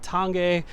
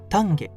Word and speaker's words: Tange: Tang some people say Tangi some people say tange and with it being the Japanese name I looked up the correct Japanese pronunciation and it's tange tange and so that's what